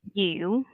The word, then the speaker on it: Yu: mm-hmm, Yeah, when you pronounce my name, you need to how to say you, that, like um down your tone a little bit, like you. yeah, It shouldn't be you.